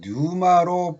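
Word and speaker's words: πνεῦμα: 이 푸시케 헬라어 조에와 히브리어 자원은 생명을 의미하고, 헬라어 푸뉴마란 본래는 뉴마로 발음하고 있습니다. 공기, 호흡, 바람, 영이라는 뜻의 존재로 작용합니다.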